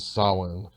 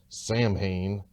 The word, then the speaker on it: Samhain: reference all hallows eve and solomon though singer billy corgan mispronounces it throughout the song as samhain the video is fittingly